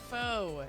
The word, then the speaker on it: faux: Faux.